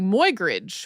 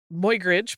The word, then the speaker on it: Muybridge: hear an English person pronouncing it a little bit more like my instead of moy, so that's another.